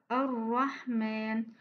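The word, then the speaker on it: الرحمن: Voilà, Ar-Rahman. On ne doit pas exagérer quand on prononce la lettre Ra. On ne doit pas prononcer la lettre Ra comme ça. Ar-Rahman. Non, c'est une faute.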